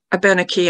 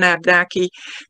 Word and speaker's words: Abenaki: And I'm purposely using the pronunciation of Abenaki rather than Abnaki. People use one or the other. But I prefer Abenaki because it's more of the Algonquin pronunciation of those letters, whereas Abnaki, I feel, is more of an English pronunciation.